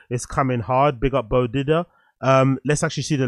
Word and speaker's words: Beau: diddler was it uh big up Peter it's pronounced Bo okay bod Didia bod Didia big up bodia